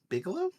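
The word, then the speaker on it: Bigelow: So, Zero Dark 30 is basically uh it's actually directed by Katherine uh Vigilo. Bigalow.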